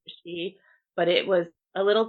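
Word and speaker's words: sidhe: pronunciation for it um which would be see instead of she but it was a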